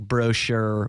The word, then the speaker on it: Brochu: It's like brochure without the R and E. Brochu, though.